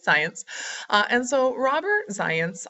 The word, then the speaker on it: Zajonc: zence um that is how his name is pronounced uh it looks like it should be should be Z Jun but it's not it's science uh and so Robert zence um contends that